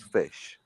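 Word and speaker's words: ghoti: the beginning okay right spell the word rough are you fff no no we're talking about you're the one that criticizes tone like for doing his own no you all spell rough the weight spell in english my good ledeo r-o-u-g-h therefore g-h is foot right okay so basically g-h-o-t-i spells fish and that's your first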